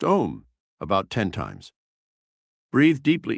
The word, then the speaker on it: om: Relax your mind and body by gently humming the sacred mantra om pronounced om about 10 times.